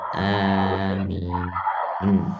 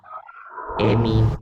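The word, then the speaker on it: آمين: E dibaca e bukan a. E min begitu.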